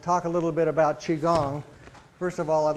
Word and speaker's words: Qigong: So I'll do my best, but part of the purpose today is to talk to you about Qigong. And the pronunciation of the word is Qi-Gong.